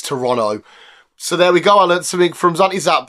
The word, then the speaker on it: Toronto: because I've always said well I've always said Toronto because of my Southern accent but apparently that's actually the correct pronunciation it's Toronto it's not Toronto it's Toronto so there we go I Le from zti